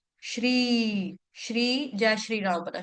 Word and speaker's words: श्री: इसको श्री या श्री या श्री नहीं बोलेंगे। इसको बोलेंगे श्री श्री जय श्री राम बना श्री निकेतनम।